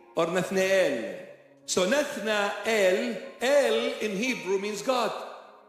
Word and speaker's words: Nathanael: So the proper pronunciation is not Nathanael, is Nathanael. And If we say it sort of quickly, Nathniel or Nathneel. So Nathna El, El in Hebrew means God.